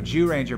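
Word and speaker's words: Zyuranger: team or something no jew ranger but it's spelled it's spelled z-y-u but it's jew as in jurassic park so what right so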